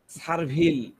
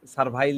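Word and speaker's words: servile: rubrics নিয়ে বলি হ্যা সারভিল সারভিল আমি সারভিলের ব্যাখ্যাটা দিচ্ছি সারভিল বা সার সারভাইল যেটা ইয়ে করেন উচ্চারণ করেন সারভাইল উচ্চারণ করেন এটা বেটার আমি ইয়েটা রুব্রিক্সটা দিয়ে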